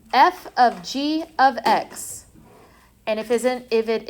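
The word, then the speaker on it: (f ∘ g)(x): Yeah, this is pronounced f of g of x. And if isn't if it isn't my like biggest pet peeve calling this fog, do not call that fog.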